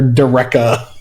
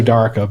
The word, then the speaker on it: Daraka: Like even in playtest, it was like Sam was pronouncing her Dareka or something. So we pronounce her Daraka, but whatever, you do you.